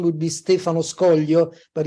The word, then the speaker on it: Stefano Scoglio: and uh today's guest I'm honored to have Stefano skoglio I think I may have even pronounced it correctly or close enough well no